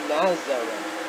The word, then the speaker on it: Nazareth: Nazareth. That's how you pronounce it.